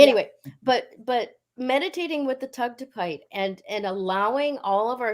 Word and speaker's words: Tugtupite: If necessary, using the photos that we're going to upload in the group, meditating with the Tugtupite, Yeah.